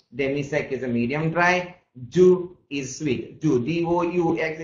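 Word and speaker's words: doux: Sec, yes, is sec is a dry, demi-sec is a medium dry, du is sweet. Du, D-O-U-X, you don't pronounce it as a dux, you pronounce it as a du, which is a sweet.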